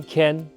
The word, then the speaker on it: 件: 提醒大家，华语会说 “ 鸡 ” 的发音，文件、鸡燕件，但是客语会说 “ 可 ” 的发音，科燕 can，文件、建议、